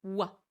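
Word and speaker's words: は: Donc je vous rappelle, hein, c'est la particule wa qui s'écrit ha, mais qui se prononce bien wa.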